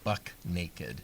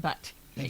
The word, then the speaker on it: buck naked: now the actual term is Buck with a CK buck naked and I don't know where that comes from I don't either because it was late last night I didn't have time to look it up but yeah it's not butt naked have you heard I've heard people say butt naked have you constantly in